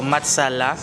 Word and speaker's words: matsala: It's a bit cringy, but um so the Filipino word for thank you is salamat and then you flip it around. So matsala and then the last syllable you have to make it into the word love.